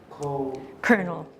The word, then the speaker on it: Colonel: Do you, sir, do you know Colonel. Colonel It's Pickering? Colonel Pickering. It's not pronounced like it's spelled.